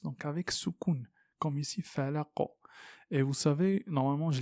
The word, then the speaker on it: الفلق: Donc ici, on ne dit pas bi rabbil falaqi. Vous trouvez jamais ça dans le Coran. Et même dans le parler arabe, c'est-à-dire parler de l'arabe classique d'à l'époque, ça c'est une erreur. C'est considéré comme une erreur.